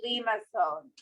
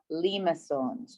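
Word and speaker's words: limaçon: we are going to talk about lima songs that's how you say it limassons they're the ones that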